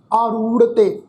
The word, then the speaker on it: आरूढ़ते: आरूढ़ते अशव रथ नागै, इत्थे भी ख्याल रखो ये जिहड़ा शब्द है जी आरूढ़ते, ऐड़े नूं कन्ना, रारे के पैर में तुसीं देखो दुलैंकड़ का पाठ है जी, फिर राड़ा अखर, फिर तत्ते उत्ते एक लां की मात्रा। इसका उच्चारण करांगे आरूढ़ते अशव, अशव ऐस ऐड़ा, ससे